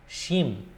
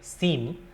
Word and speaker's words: শিম: Shim, or some say sim or shim.